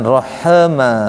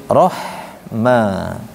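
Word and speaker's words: الرحمن: bacanya arahma Ahma j Jangan Rah Rah tapi Rahma kemudian Maliki yaumiddin nah yaumiddin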